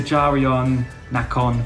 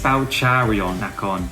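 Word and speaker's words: เจริญนคร: It's next to Jarion Nacon BTS station. It's Charion Nacon BTS station.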